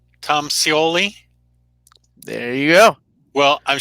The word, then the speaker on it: Scioli: Tom Scioli.